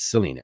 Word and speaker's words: Selena: I just say Chelina because io parlo l'italiano, and I'm trying to learn. I'm trying to speak Italian with Paul all the time and get my pronunciations correct. So I just see that, and it looks like Chelina. It's Selena, but she's not here tonight.